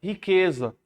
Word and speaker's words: riqueza: Riqueza. 7 letras e 6 fonemas está a resposta, né? Por quê? Porque esse QU tá com um único som, né? Riqueza. Temos um dígrafo aí.